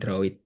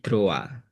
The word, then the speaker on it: droit: Dalam bahasa Prancis itu meskipun tulisannya droit gitu ya, tapi bacanya bukan droit tapi droa.